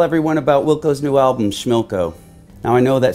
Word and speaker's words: Schmilco: about wilco's new album schmilco now I know that sounds like a jokey album title but we're really proud of it see it rhymes with Wilco which is the name of our band just like it says